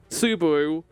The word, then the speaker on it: Subaru: I know his name is pronounced Subaru, but I always call him Subaru because I'm an idiot.